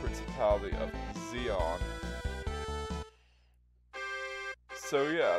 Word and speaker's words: Zeon: Well, not the Duchy of Jean, because that's how you're actually supposed to pronounce it. Principality of Zeon.